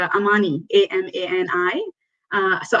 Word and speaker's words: amani: that came up was from swahili uh it's amani a-m-a-n-i uh so amani means a wish in swahili so she's our